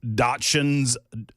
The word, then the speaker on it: Dachshund: Were these Dachshunds? You made it worse, Ken. I mean, it's spelled D-A-C-H-S-H-U-N-D?